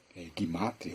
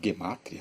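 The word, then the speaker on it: Gematria: Eles usam um trabalho parecido, que é chamado de Cabala, Gimátria ou Gemátria, né? Dependendo de quem pronuncia, que aonde eles usam cálculos também.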